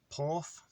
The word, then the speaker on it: porth: word for port is porth um so i can put this on the screen as well because it's um and if you say in english you'll kind of pronounce it right in welsh so it's p o